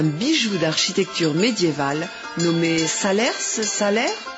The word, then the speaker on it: Salers: On dit salaire, on prononce pas le S final. Pourquoi ? Parce que l'ancien orthographe c'est Salerne. Alors, c'est à la Révolution française où le S a remplacé le N.